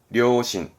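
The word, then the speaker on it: 良心: 발음은 후려, 후려, 불량. 그리고 양심이네요. 료신, 료신.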